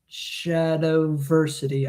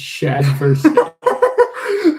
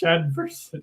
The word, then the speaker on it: Shadversity: by a YouTuber named Shadowversity. I don't know what his name is. Shadversity. Not Shadowversity. It's Shadversity. Oh, we've been talking about shadows and shads and shade and Shadversity. Light. Anyways, it's pronounced Shadversity.